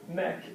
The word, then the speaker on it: mec: mec. C'est le mec. Strange French word because you're going to pronounce the C even though there's nothing after it.